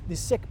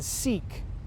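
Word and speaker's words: Sikh: as just understanding that their name was the sick people rather than seek or other pronunciations gave the stories and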